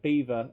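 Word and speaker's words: Belvoir: as I hate it bwise pronounced Beaver uh bloody stupid uh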